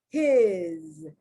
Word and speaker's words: his: His, his. His is pronounced with the, although it's spelled with an S, it's pronounced with a Z.